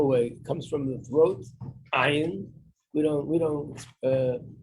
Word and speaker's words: ayin: No, we pronounce the ayin like an aleph, but they pronounce the ayin like it's coming from your throat, like they speak in Arab countries.